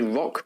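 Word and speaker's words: Rukh: This is a rock dropship. Now, Corvus Belli don't make a miniature for this, but it's pronounced, it's spelled R-U-K-H, means a legendary bird,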